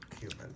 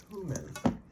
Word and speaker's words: cumin: Another thing that kills me is so many people on YouTube pronounce cumin wrong. Everybody says cumin, and it's not cumin, it's cumin.